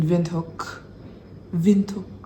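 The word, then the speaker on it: Windhoek: and when we arrived here in wi in vinok vent that's how you say it Namibia it was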